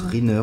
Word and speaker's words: Rykner: une verge c'est pas ça se prononce riner or et noir qui